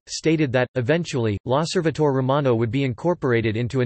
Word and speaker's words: L'Osservatore Romano: L'Osservatore Romano, pronounced L'Osservatore Romano, Italian for the Roman Observer, is the daily